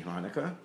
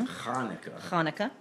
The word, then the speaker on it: Hanukkah: Well, I'm afraid it's not Hanukkah with an H, it's Hanukkah.